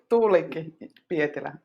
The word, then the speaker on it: Tuulikki Pietilä: tiny little rocky skerry where she lived with Tuliki Pietila. Have I pronounced that right, Marika? You have to help me. Yeah, that's right. Tuulikki Pietilä.